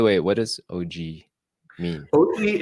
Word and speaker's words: Oggi: Oggi is the Italian word for today, I but it's see. spelled, in Italian, it's spelled Oggi, I see. which we wouldn't pronounce well in America.